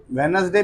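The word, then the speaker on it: Wednesday: ऑन वेडनेसडे ऑन वेडनेसडे वेडनेसडे में क्या होता है डी जो है ना वो साइलेंट हो जाता है ठीक है तो क्या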